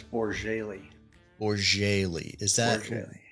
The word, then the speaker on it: Bourjaily: how do you how do you pronounce how do you properly say your last name it's borjaylee or Jaylee is that really yes where's that